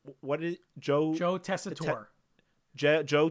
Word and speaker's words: Tessitore: But I don't know how to pronounce his name. What is Joe? Joe Tessitore. Joe Tessitore.